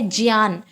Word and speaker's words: ज्ञान: उच्चारण है सही उच्चारण इसका ज्ञान है इसका उच्चारण है ज्ञान इसको ज्ञान ना कहकर ज्ञान कहना चाहिए ठीक